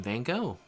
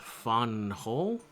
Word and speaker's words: Van Gogh: Well, it's actually pronounced Fonhole. Wait, really? Hold up. Dutch. Oh, I guess it is a Dutch name. Yeah, for a second there, I got uh flashbacks to my comment section telling you how to pronounce names. Fonhole. Funhole. I'm gonna keep calling you Van Go in my native Dutch, but Van Go is how I'm known in your country.